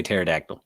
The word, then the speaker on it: pterodactyl: was a hard a pterodactyl yeah a dying one silent silent p heart a pterodactyl yeah that's for my